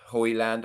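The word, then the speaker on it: Højlund: It's pronounced Hoyland.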